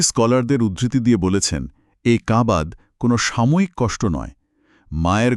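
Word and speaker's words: كَبَد: এই আয়াতটি এই কাবাদ বা কঠোর সংগ্রামের কথা বলা হয়েছে। এই শব্দটার উচ্চারণটা গলার ভেতর থেকে আসবে, কফ দিয়ে, কাবাদ।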